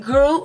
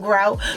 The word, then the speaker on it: Groot: I liked it, Groot, right? I said it right? Okay, because like you call him Grout.